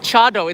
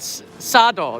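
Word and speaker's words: 茶道: that, said the comment, it's not called chado, it's called sado. This is the tea ceremony. And sado is the way of the tea ceremony. Yeah, that's how they say it in Kyoto, but chado is the way they said it in Kanazawa.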